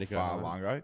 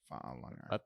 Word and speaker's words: Fa'alongo: They've now got Fa'alongo. That's how you pronounce it. Fa'alongo.